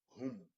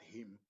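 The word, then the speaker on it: هم: We pronounce it hum, hum, not him, not ham, but hum.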